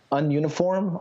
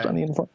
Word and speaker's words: Ununiform: I got really into Tricky's album man, I don't know how to pronounce this. Ununiform, I think it's pronounced Ununiform. It's Tricky's.